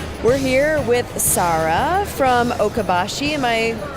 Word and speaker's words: Okabashi: conversation with Sarah we're here with Sarah from oka Bashi am i pronouncing that yes Lee okay so Kobashi walking